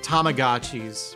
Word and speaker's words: Tamagotchi: And he corrected my pronunciation. He's like, "Oh, it's Tamagotchi," and I was just like, "Son of a!"